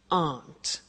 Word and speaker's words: aren't: and they aren't cheap so the difficult here is the pronunciation of a not which is Aunt okay Aunt good so